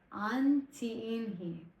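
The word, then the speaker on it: ánt'įįhnii: Okay, I wrote a pronunciation for this one. This one is the Antiinhi.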